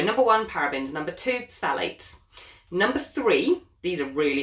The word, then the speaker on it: phthalates: Number two, phthalates. It's a hard one to say. So it's spelled P-H-T-H-A-L-A-T-E-S, phthalates.